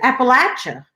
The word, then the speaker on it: Appalachian: Western Virginia's Appalachian area Appalachian is the right way to say if they say sure